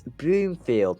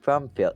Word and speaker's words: Broomfield: It's Broomfield, not Brumfield.